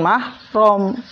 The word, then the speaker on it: mahram: salah lagi ya Eh jangan bukan muhrim salah ya tapi bukan mahrom ini sering latahnya diucapkan oleh